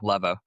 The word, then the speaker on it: Levo: And thanks for um you're pronouncing it correctly. Levo. You corrected me a thousand times. Well, yeah. I mean, I I hear I hear Levo a lot, which I think like